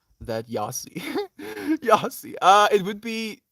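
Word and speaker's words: Jassie: that that's technically how it would be spelled like we we say like the y sound we don't really use the y sound on afrikaans we say yeah for the j sound that's our yeah uh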